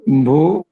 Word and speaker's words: vin: হ্যাঁ এটা আস্তে আস্তে কিন্তু ভা এই সাউন্ড হচ্ছে ভা ভিন্ন ভা ভা ভিন